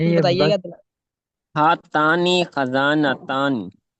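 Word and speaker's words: خِزانة: ہاتانی خزانتانی. خا کے نیچے کسرہ ہے، خزانتانی.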